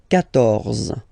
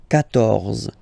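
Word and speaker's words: quatorze: Okay, so you will get the sound K here. K. 14.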